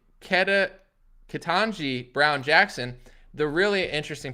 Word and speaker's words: Ketanji: peak level of that kajanti uh i'm sorry i spell i said it wrong kitanji brown jackson the really